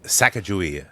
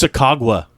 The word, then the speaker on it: Sacagawea: Sacagawea. Yep, that's not how you pronounce it. It's Sacagawea.